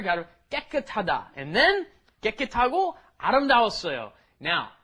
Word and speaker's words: 깨끗하다: 깨끗하다. Okay, you got to get both of those 쌍기역 in there. Got to 깨끗하다.